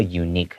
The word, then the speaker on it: unique: We see unique, even though it starts with a U, it's pronounced with a Y sound, so that's why it's a unique challenge.